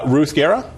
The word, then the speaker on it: Ruth Guerra: Ruth Guerra? Yes, pronounced correctly?